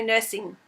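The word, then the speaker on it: knursing: you're on instagram k nursing so nursing like knitting with a silent k and i'll be able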